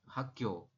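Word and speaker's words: 학교: Jadi Anda bacanya adalah yang ini hak, yang ini gyo, seperti hakyo.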